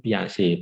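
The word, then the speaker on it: Piaget: itu otak kanan ya nah orang Perancis ya membacanya adalah sang piase bukanjian yaget bukan ya kalau anda kanjian bukan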